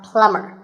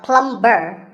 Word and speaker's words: plumber: you call him a plumber not a plum burr the bee is silent so plumber in fact in many